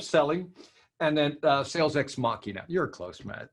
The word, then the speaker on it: Machina: By the way, it's the Tao of Selling and then Sales Ex Machina. You're close, man. Machina. Like I said, I'm from Arkansas. My mom says we don't know how to pronounce names down there.